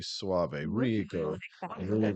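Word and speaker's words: Soave: that is the net how his name is pronounced actually Robbie Suave Suave right right here's what Robbie tweeted on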